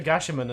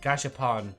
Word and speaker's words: Gashapon: Anyway, you should give the Gashaman another shot. I mean, Gashapon, not Gashaman.